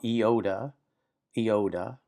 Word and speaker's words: iota: This is called iota, iota. It's like the letter I as in pit, or sometimes two E's together as in feet, feet, pit, feet.